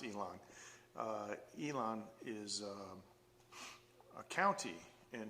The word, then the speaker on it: Yilan: that they think elon musk you know it's pronounced elon elon is a county in taiwan it's on